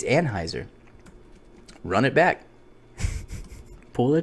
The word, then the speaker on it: Anheuser: fine time to talk I don't think that's how you pronounce the team it is no it's not it's Anheuser run it back pull